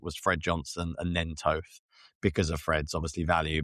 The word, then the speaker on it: Toth: Is it Brett Toth or is it Brett Tooth? You got it right. It is Toth.